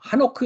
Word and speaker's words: 하노크: 공원이라는 뜻을 가진 어 하노크 있습니다네 원래 히브리어 어 발음은 하노크 그요 영어에서는 녹 이렇게 하고 한글는 에녹 합니다 원래는 하노라고 발음해야 올바른 이름의 발음이 되겠습니다 그다음에 여기도 할라크 우리가